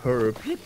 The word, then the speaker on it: herb: I never understood why you don't say herb, like why you don't pronounce the H.